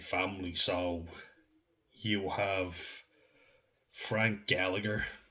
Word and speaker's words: Gallagher: It's like Gallagher. We don't pronounce the second G, only one G, my G.